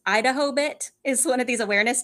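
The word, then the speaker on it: IDAHOBIT: the international day against homophobia something anyway it's pronounced Idaho bit is one of these awareness days because it's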